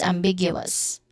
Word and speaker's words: ambiguous: So that is ambiguous. Ambiguous. All right. The stressed syllable is on the second syllable big.